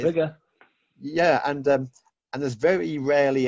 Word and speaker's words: Biggar: BI, so it's spelt Biggar, and it's a little Bigger.